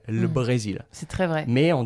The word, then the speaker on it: le Brésil: Hier, le Brésil a perdu 3-0 contre l'Argentine, je sais pas, en football, au hasard. Voilà, on ne va pas prononcer le, on va prononcer juste le L, le Brésil.